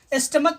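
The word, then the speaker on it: stomach: क्योंकि यहाँ पर सी एच का उच्चारण चौ नहीं हो रहा है बल्कि क हो रहा है, के समान हो रहा है, इसलिए इसका प्लूरल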